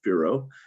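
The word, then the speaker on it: FIRO: a project called forecast informed reservoir operations f-i-r-o pronounced fero and we've been working for seven years now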